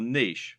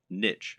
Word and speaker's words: niche: business parlance what is your niche or niche as some people pronounce it a niche is a